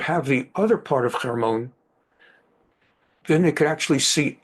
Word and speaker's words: Hermon: Some people pronounce it Hermon, Hermon, but it's Hermon.